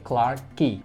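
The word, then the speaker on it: Clarke Quay: terakhir ada hotel jilin Clark key walau tulisannya Kuai tapi ini dibacanya Key jadi Clark key hotel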